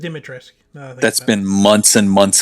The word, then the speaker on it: Dimitrescu: So it's as far as I know, it's just Dimitrescu. Dimitrescu. Okay. I know the way it ends, the way it looks like it ends, but apparently you're not supposed to pronounce that part.